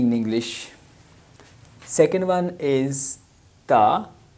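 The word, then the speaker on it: ت: Ta is like T-A, ta. Its place of pronunciation is this, ta, like something like our tongue, front corner of our tongue will touch to the upper side, upper roots of front upper teeth, that is called ta.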